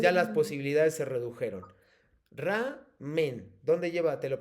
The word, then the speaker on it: ramen: Ramen, ¿dónde lleva? Te lo pronuncio. ¿Ramen o ramen? En la A, En la A, vamos a ver. Exacto, en ramen.